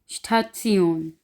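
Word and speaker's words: Station: जैसा कि इनको हम एग्जाम्पल में देख लेते हैं, जैसे स्टात्सियोन, स्टात्सियोन, स्टात्सियोन।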